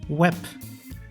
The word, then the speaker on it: web: which is my name there are some words that end on a b which is then pronounced like a p p like web same meaning as in